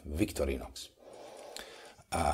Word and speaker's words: Victorinox: We pronounce it that way in Europe, Victorinox.